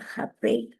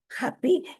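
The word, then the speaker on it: Hape: Mire, mi apellido es holandés y se pronuncia Jape, porque si ¿Jape? no, sí, es Ah. H-A-P-E, es Jape, porque si Oh. no, Happy, me siento así brincando la Feliz.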